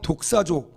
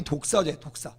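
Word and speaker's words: δοξάζω: 헬라어는 독사조, 뱀 독사가 아니고요, 그거 발음이 독사제, 독사조.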